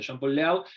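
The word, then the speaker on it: Jean-Pierre Léaud: le hablo le conoce se pronuncia Jean Paul laut que es el protagonista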